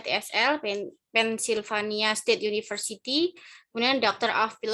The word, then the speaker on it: TESL: kemudian Master of Art TESL ya Bun, bacanya TSL Pennsylvania State University, kemudian Doctor of Philosophy Education University of London.